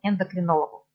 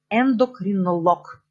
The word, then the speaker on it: эндокринолог: больницу к лечащему его эндокринологу эндокринолог ударение в конце эндокринолог еще болгарском языке вот эти специальности медицинские они когда у них ударение смещаться конец невролог кардиолог эндокринолог И сейчас я иду